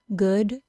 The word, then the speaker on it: good: Two examples of the OO spelling being pronounced as the U as in put sound and not the OO sound are good and look.